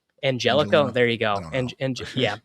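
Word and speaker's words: Angelichio: the guy they brought in, Brian Angelino, I think is how you pronounce it. It's doesn't have a G. It has a ch in it. Angelico.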